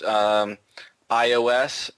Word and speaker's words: iOS: Smith wants to know, is it pronounced iOS or iOS?